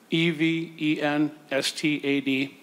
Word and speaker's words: Evenstad: It's Evanstad, Evenstad.